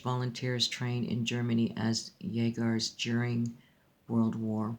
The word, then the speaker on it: Jäger: Jäger is German, means hunted, huntsman. Here we go. Jäger, it's pronounced Jäger.